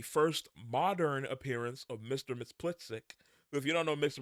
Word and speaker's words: Mxyzptlk: So there's, I'm pretty sure it's Mxyzptlk, but you'll hear it different ways sometimes.